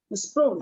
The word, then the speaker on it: Sproul: Y lo pronuncié bien. Sproul.